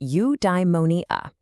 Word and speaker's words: eudaimonia: It's pronounced eudaimonia.